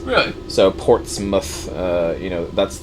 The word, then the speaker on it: Portsmouth: Anything with mouth in an English town is pronounced muth. Really? So Portsmouth, that's how it.